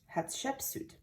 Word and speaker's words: Hatshepsut: in front of her temple her name is pronounced hatshepsut what exactly is a sphynx a sphynx is a statue of a lion's body but with a human head after hatsepchute died all of the beautiful artwork including the